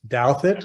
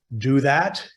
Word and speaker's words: Douthat: It's my pleasure to introduce Ross Douthat, and that is the correct pronunciation, Douthat, not Douthat.